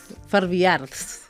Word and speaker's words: Farbiarz: Farbiarz. Sí. És que la Z ha de ser contundent.